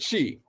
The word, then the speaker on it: qi: Now, the word for chi, you heard that word chi, they associate that with Chinese medicine.